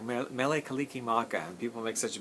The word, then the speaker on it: Mele Kalikimaka: It's literally, phonetically, Merry Christmas. If you were speaking Hawaiian, that's as close as you can say. Merry Christmas would be like Mele Kalikimaka.